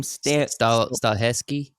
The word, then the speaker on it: Stahelski: So the John Wick the director for John Wick, Chad, how do you pronounce that last name? Stahelski.